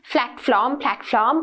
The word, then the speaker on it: platform: But the p and the f sounds should be clearly distinguished in terms when someone hears it, right? So, p ekai, f ekai, hariyata clearly pronounce karanna one. මොකද ගොඩක් අය නැත්තා platform එකේ ඉන්න platform එකේ ඉන්නවා කියලා, right? So it's not that, it's p. Platform, okay?